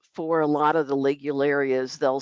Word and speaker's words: Ligularia: Pronounced Ligularia.